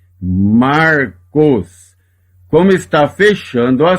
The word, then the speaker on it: Marcos: O nome próprio Marcos. Repara que aqui eu tenho um Shevá que está apenas pontuando que aqui existe uma consoante sem vogal. Ele não é pronunciado neste caso. Lê só o som do Reish, o R.